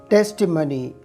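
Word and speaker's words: testimony: टेस्टिमनी। टेस्टिमनी टेस्टिमनी के मानी है गवाही। आप इस लफ्ज़ को टेस्टिमोनी भी प्रोनाउंस कर सकते हैं। टेस्टिमनी टेस्टिमोनी दोनों दुरुस्त हैं।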